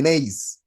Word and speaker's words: gneiss: So remember that this is a silent G. That is why I'm not pronouncing it. It is called the gneiss.